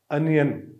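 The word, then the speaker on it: onion: अनियन, प्याज हम जिसे कहते हैं, अमूमन हम गलत प्रोनाउंस करते हैं, और ओनियन हम इसे कहते हैं, बट ये अनियन होता है जो श्वा साउंड से शुरू होता है।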